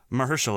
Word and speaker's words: Mahershala: Mahershala, I think, is the right way.